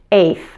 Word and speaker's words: eighth: as one eight eight you can also pronounce this word with the final T being silent if that's easier for you you can say this 8th 8th again I'm gonna